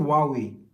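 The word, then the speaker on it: Huawei: Oh, H is silent. Okay, so it's just called Wuawei.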